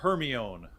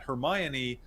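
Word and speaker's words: Hermione: sworn the lead female character her name was Heron and I just said Heron to my kids for years and when the movie came came out and they started pronouncing it hermion my kids were totally confused because I had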